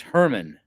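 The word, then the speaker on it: Germán: And his name is Herman. But he's he's Argentinian. But it's spelled German, Herman.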